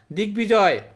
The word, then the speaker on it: দিগ্বিজয়: দিগ্বিজয়, এই যে বফলা, বফলা কিন্তু উচ্চারণ হয় না, এখানে কিন্তু উচ্চারণ হয়েছে, এগুলো জানতে হবে।